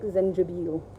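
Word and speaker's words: زنجبيل: Ginger in Arabic, Zenjabil is how you say it.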